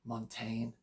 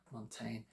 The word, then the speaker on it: Montaigne: way through is this I'll pronounce it both ways I guess in America they call him montain yeah Montaine in British English we get this mon doesn't really matter how we say it he's the prolific